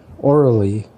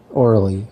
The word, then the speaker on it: Aurelie: it all starts when their daughter Orly, and that's spelled Aurelie, Orly. It's supposed to be a French name, but so their daughter,